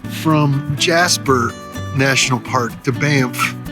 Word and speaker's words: Banff: Taking the road from Jasper National Park to Banff. Bamp. Which is awful fun to say. Banff. Bamp. One syllable.